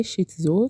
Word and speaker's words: شیتسو: امروز مختصری در مورد نژاد سگ شیتزو که شیتسو هم تلفظ میشه صحبت میکنیم.